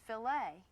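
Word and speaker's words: filet: If you're speaking about meat cookery, the French word f i l e t, it's pronounced filt.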